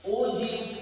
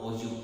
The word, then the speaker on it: ogive: chapter, that is called Ogive curves. Ogive curves. This is totally a new concept for you. It is not Ogive. The spelling is Ogive, but the pronunciation is Ogive.